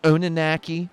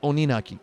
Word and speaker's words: Oninaki: guarantee that the name of this game is pronounced Oni naki not Onan a key or Oni naki or Oni naki it's pronounced Oni nukkie in case you needed to know that now